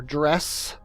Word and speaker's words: Dres: A lot of people have a problem with me saying Dray instead of dress. I don't know why. It's just the way the word is spelled makes me think it should be called Dray and not dress. Like Dr. Dre.